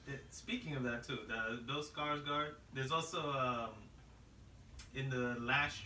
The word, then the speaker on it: Skarsgård: The person that's played it, Bill Skarsgård. That's how it's pronounced his name.